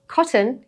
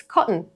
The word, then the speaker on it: cotton: Think of words like cotton. Not cotton, it's cotton. The t becomes a glottal catch before the n.